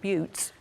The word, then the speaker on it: butte: geyser of Old Faithful I was calling it a geezer so I've sorted about geezers and boats instead of geysers and buttes here's another oil on